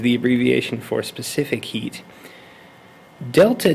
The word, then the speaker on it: Delta: that c is the abbreviation for specific heat delta T that's all one thing don't think of